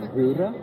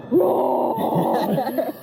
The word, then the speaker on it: RØRE: So it's pronounced RØRE. RØRE, but any American that looks at it is gonna read Roar. Yeah. So, and The way I've been saying it is RØRE.